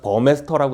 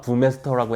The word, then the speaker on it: Burmester: 그래서 1977년에 디터 붐웨스터라는 제가 버메스터라고 했다가 부메스터라고 했다 뭐 이렇게 발음이 왔다 갔다 하는데 이렇게 다들 혼용해서 부르시곤 해요 리터 라는 분이 설립을